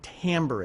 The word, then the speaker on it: timbre: what Tambor is and timbre is Spence a funny word is spelled t IM b r e and it looks like the word timbre with the R in the e flipped around at the end Tambor is the way that we describe sound so